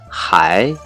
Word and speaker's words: 还: Từ tiếp theo đây có hai cách đọc, một là hải, hải, nghĩa là vẫn, còn.